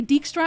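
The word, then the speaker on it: Dijkstra: But the reason I say Dickstra and not Dystra is because uh The Witcher 3 says Dickstra.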